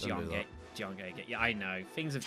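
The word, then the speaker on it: Jiange: Why do you keep calling it Gay? Rude. Isn't that how it's pronounced? G. John G. I'm thinking like Dice Warriors 4, that's what they called it, and that's where most of my pronunciation of the series comes from. It's Jiangge.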